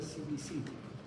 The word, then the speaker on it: Cimicidae: La familia Cimicidae se escribe Cimicidae, pues se pronuncia Cimicidae.